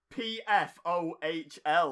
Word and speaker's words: Pfohl: His name is Lawrence Wendell, and then it's Pfohl is his surname. I'm assuming the P's silent there, and it's like Fall or something.